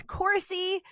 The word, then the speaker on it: Coursey: that truth podcast Cory who you just shared this with me rhymes with horsey it does yep it's